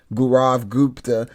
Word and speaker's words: Gaurav Gupta: Gaurav Gupta.